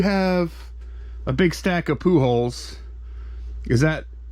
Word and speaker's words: Pujols: A pack of poo holes. No, but the name is poo holes. It's like Jones, like you say, keeping up with the Joneses. The poo holeses.